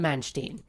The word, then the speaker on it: Manstein: helped me with this typically when you have e i it's pronounced with the eye um and when when it's ie it's i think whatever letter second is how it's pronounced so i think it's man stein but if i'm wrong